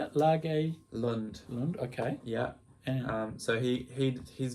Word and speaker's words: Lage Lund: Lage Lund.